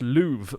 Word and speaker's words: love: doubt i love uh the word love would have been pronounced louvre back in the day because of the way shakespearean english like around that kind of era pronounced certain vowels and so there's a